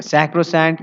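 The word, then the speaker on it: sacrosanct: Okay तो याद रखिएगा सैक्रोसैंट या सेक्रोसैंट। सेक्रोसैंट भी कहा जा सकता है या सैक्रोसैंट भी कहा जा सकता है, ये इसका सही प्रोनाउंसिएशन है सैक्रोसैंक्ट या फिर सेक्रोसैंक्ट।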